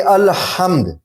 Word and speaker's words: الحمد: یہاں پہ الحمد, ہم نے ال بولا پھر ہم نے حمد بولا, الحمد. القمر, ہم نے ال بولا پھر ہم نے قمر بولا.